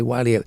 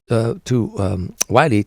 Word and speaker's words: Wiley: I say Wiley. I think she pronounces it Willie, but Anita Wiley.